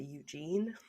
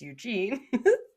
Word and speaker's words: Eugen: So the Bismarck and its escort, Prince, it's spelt like Eugene, but without the E at the end. So I'm just going to say Eugene.